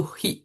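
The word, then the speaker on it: 火: Kanji di sini dibacanya itu HI ya. Kanji ini kadang dibaca hi kadang dibaca K.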